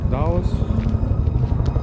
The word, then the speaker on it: Dulles: We are close to the, what is it, Dulles Airport here in Virginia. Dulles. That's how you pronounce it.